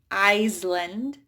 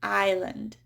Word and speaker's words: island: It's a silent S. So I don't say Iceland. I say island.